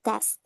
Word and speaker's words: tests: smoking or cheating on tests. Tests. Test, No way. Tests. test, Tests. test, There's you missed the S sound at the end, Kira. Tests. test, Ah, there. That sound. You need that sound.